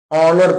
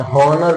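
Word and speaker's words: honour: है ऑनर ठीक है तो ऑनर में एक साइलेंट है ऑनर पढ़ा जा होनर नहीं पढ़ा जाता ठीक है तीसरा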